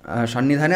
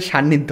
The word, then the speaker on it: সান্নিধ্য: ওই যেহেতু দক্ষিণ ভারত আমি একটু ভুল উচ্চারণ করে ফেলি সান্নিধ্য হবে আসলে তো লেগেছি না